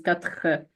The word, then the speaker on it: quatre: They're like the way it is pronounced is quatre. It comes from the back of your throat.